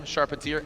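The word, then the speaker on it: Charpentier: should be seeing Rome sharpentier sharpentier however you want to pronounce it I've been told by him charpatier and his dad FYI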